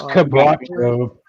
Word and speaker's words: quebracho: I don't even know how to say It's quebracho.